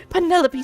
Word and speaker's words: Penelope: But I never can be bothered with all the four syllables of it. Penelopey sounds a little ostentatious coming out of the mouth.